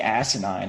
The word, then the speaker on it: asinine: Don, way to go saying asinine. I did not expect that out of you. Asinine. Three syllables.